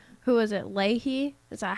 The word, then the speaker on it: Leahy: people up there were like who was it leahy is that how you pronounce it yeah leahey oh he made me so mad he was